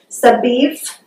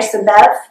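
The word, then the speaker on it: סביב: Okay, so God is saying, just as the mountains surround, and that's that word that we saw, it's pronounced Sabiv, okay, or Sabev.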